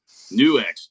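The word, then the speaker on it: NUX: confirmation that that is how that brand is pronounced new X is how you pronounce it so uh you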